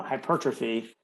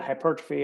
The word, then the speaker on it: hypertrophy: say it properly because it's felt like hyper and then the word trophy so hypertrophy um but i always